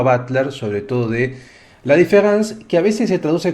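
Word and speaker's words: différance: Lo que pasa es que desde el punto de vista fonético no hay diferencia entre escribirla con E o escribirla con A.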